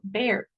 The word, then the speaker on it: bear: ejemplo original, sería entonces en este caso bear, la e es un poquito más estirada. Entonces ustedes han visto la boca de una rana, de un sapo, o sea, es como como superestirada. Entonces esa imaginemos que lo vamos a hacer así como e y es como una e como seca, como e.